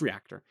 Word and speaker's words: Reaktor: KR reactor is spelled am I actually am I producing that wrong yeah no it's reactor but it's spelled re e a k t o r so it's spelled uniquely